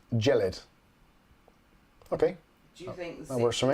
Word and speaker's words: Gelid: So apparently it's pronounced Gelid.